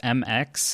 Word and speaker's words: Mx: up with one it's MX and it's pronounced to mix like you're mixing a bowl to make pancakes or something I don't